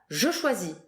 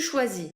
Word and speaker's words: choisis: Following the structure of finir, we'll have je choisis, tu choisis, Je choisis. Tu choisis. il choisit, Il choisit. final S, S, and T, Never that you do say.